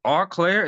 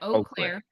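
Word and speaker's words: Eau Claire: I don't believe it's Arclair. Is it Arclair or It's actually French. Yep. Oclair means clear water in French.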